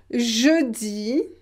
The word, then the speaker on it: jeudi: Now I want to show you that when we have EU, we pronounce it E. E. Donc, par exemple, peu, jeudi, heureux.